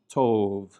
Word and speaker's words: tov: And on the right, it lacks the dagesh and this word is pronounced tov, tov, which means good.